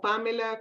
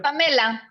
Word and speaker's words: Pamela: dicen Pamela o Pamela? ¿Cómo te... Pamela, de hecho lo Pamela? pronunciaste como lo pronunciamos los latinos y así es como hago que los americanos también lo digan, Pamela.